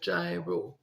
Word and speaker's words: gyro: a place called gyro and we would say gyro and it's actually pronounced gyro is it a Greek remember the